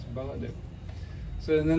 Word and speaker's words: Baladev: It's Baladev.